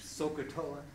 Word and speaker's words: SOHCAHTOA: So that kind of abbreviates down to like OH, AH, OA, and we put it together in this thing, SOHCAHTOA, which is pronounced Sokotoa, and means sine is opposite over hypotenuse.